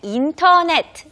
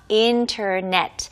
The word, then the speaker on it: internet: internet, 인터넷 발음 아니고요. internet. 그리고 원어민들은 이렇게 빨리 얘기할 때 그 첫 번째 T 발음이 안 들릴 수도 있어요. 그래서 internet 이렇게 말할 수도 있지만 internet 반드시 인터넷 아닙니다. internet, okay?